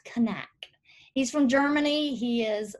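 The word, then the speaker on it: Knaack: how to pronounce that i was saying knack so but it's connect he's from germany he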